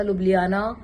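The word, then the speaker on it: Ljubljana: हैं तो उसमें जे आता है, जो कि साइलेंट होता है। जैसे कि मैंने आपको पहली वीडियो में कहा था, लुब्लियाना, मैं हेलसिंकी से लुब्लियाना गई तो लुब्लियाना में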